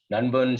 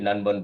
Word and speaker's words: nanban: movement so nun has it is pronounced as n-u-n-b-u-n even though it's written as n-a-n-b-a-n none one and uh